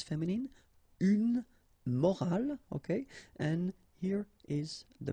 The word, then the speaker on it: morale: but in that case you get this at the end, which is silent, so you don't pronounce it.